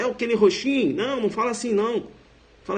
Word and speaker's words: Roxin: Um amigo falou, rapaz, é Roxin.